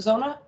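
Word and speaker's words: Xona: Is that how you pronounce it, Zona?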